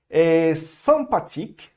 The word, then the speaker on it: sympathique: Só lembrando aqui que aqui temos um M, então lembrando que o M ou o N vai ser nasal, bem nasal, como se tivesse um A com tio ou uma coisa assim, ok?